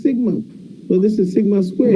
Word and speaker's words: sigma: It's pronounced sigma.